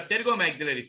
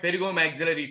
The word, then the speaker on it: pterygomaxillary: PTM is nothing but pterygomaxillary fissure. Pterygomaxillary fissure. PTM, point pterygomaxillary fissure. P is silent.